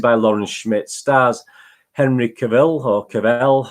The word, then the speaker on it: Cavill: Lauren Schmidt stars Henry Cavill Hook FL how you pronounce supposed to pronounce it Charles rhymes with travel so Henry Cavill yeah